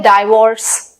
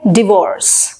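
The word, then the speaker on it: divorce: तो इसको हम बोलते हैं डाइवोर्स, लेकिन एक्चुअली क्या होता है? डिवोर्स, डिवोर्स, डिवोर्स।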